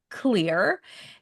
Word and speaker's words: Xlear: So now we know how to pronounce it. It's pronounced clear.